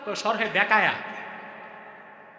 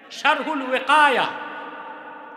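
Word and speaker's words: شرح الوقاية: শরহে বেকায়া। শরহে বেকায়া কিতাব নাই তো, শারহুল ওয়াকায়া। শারহুল ওয়াকায়া, এটারে বলে শরহে বেকায়া।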